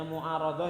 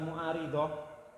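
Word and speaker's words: معارضة: Bacanya mu'aradah ya, bukan mu'aridah.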